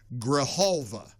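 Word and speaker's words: Grijalva: And I'm told by a texter, the J is silent. So I guess it's Graalva.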